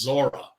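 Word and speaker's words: Zorro: gang led by uh Zoro is the character's name although I think it's pronounced Zora uh yeah and uh they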